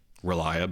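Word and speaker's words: R'lyeh: Relia is how I say it, but according to the H.P. Relia. Lovecraft experts I consulted with, there is no right way to say Relia because it is an alien tongue from the elder gods, and so humans cannot pronounce it correctly.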